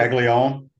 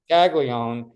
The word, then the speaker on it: Caglione: Caglione. Caglione being these two incredible sluggers on campus at the same time.